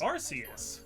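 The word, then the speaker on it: Arceus: multiple different ways yeah the one movie said archus I think yeah yeah and then like go ahead and then like rks is confirmed by the rks system and then Battle Revolution said RCS it's RCS y yeah and I think the reason they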